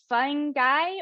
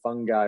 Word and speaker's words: fungi: from mush love texas is it fun guy or fun g that i do know i would say it's probably fungi with the uh with a hard g because uh you would say like you have fungal infection or something like that it'd be fungal so what are some